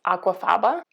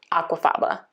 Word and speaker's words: aquafaba: If I'm saying it correctly, it's aquafaba. It's spelled aqua plus F-A-B-A.